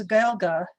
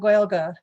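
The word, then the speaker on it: Gaeilge: of a english adaptation the irish word from the la for the language is galga you can look at that pronunciation and wonder why it's like that um rather than gaelic so if somebody's talking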